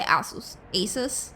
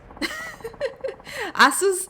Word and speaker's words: Asus: Yeah, it was like a Windows update that conflicted with the how do you pronounce this? Asus? I say Asus. Asus.